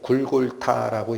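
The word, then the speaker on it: גולגלתא: 발음 나는 대로 하면은 굴골타라고 읽히는 단어인데 어쨌든 히브리어로 골고다라고 하는 곳에 나오셨다라고 합니다.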